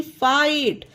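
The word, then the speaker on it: fight: तो एग्जांपल देखते हैं एफ आई जी एच टी फाइट यह देखिए इसमें जी एच का उच्चारण नहीं हो रहा है इसमें एफ आई का फाई हो गया टी का टा हो गया तो फाइट हो गया इसे फाइट पढ़ा गया इसमें हा ना ही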